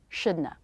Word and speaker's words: shouldn't have: almost the same should then just release the tongue to make the schwa shouldna shouldna this is the